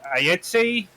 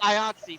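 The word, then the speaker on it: IATSE: the Entertainment File, what's going on with the ITI um strike? Well, um, apparently the, uh, it's IATSI, first of all, rhymes rhymes with Yatsi.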